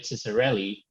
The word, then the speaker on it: Ciccarelli: me pronounce it by suggesting you say s instead of the c so it makes it very clear uh welcome david how's